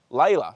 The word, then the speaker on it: Ila: Ila. Sorry, I pronounced your name wrong. Ila, why would I have pronounced your name Lala?